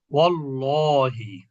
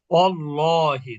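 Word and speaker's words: وَاللّٰهِ: যেমন এখানে আপনি কি পড়বেন এখন? ওয়াল্লাহি, এখানে পড়বেন ওয়াল্লাহি, তার মানে কি হামজাটা পড়া হচ্ছে না।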